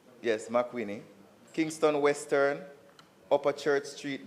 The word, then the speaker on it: McWhitney: So if you would listen, Kingston Central, Wagonette Crescent, McWhitney Street, if that's the proper pronunciation. Yes, McWhitney.